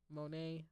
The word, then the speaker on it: Monae: Monet, like, Claude Monet, but not the way that it's spelled, MONAE.